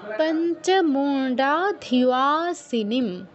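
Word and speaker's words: পঞ্চমুণ্ডাধিবাসিনীম: পঞ্চমুণ্ডা ধিবাসিনীম। পঞ্চমুণ্ডা ধিবাসিনীম, এই এই ন কিন্তু মূর্ধন্য, তো উচ্চারণের সময় খেয়াল করব যেন দন্তন্যর উচ্চারণ, মুন্ডা কেউ বলবো না, মুন্ডা।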